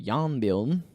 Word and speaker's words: Jarnbjorn: no, Just don't pronounce the J, and it's simple.